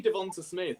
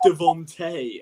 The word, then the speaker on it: DeVonta: Yeah, it's the one name I can actually pronounce correctly, this one. Whereas even like I say Devonta Smith, and someone DM'd me who's like, it's Devontae, and I was like, it says Devonta.